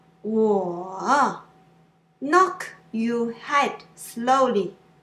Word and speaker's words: 我: At the beginning, you try to pronounce the third tone longer. You say, 我, 我 Knock your head slowly.